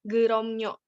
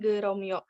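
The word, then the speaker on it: 그럼요: Di sini miem juga bertemu dengan yo. Kemudian ieng berubah menjadi nian, jadi pelafalannya menjadi geromnyo, bukan geromyo.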